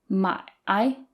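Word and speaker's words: 买: pronunciation my I is third tone so there's a dip in the middle Ma I and my is fourth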